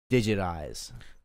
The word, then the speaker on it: Digit Eyes: just gonna go by Digit Eyes. Digit Eyes, like it's spelled Digit Eyes, like your eyeballs, and so it's like it sounds like digitized, but it's like.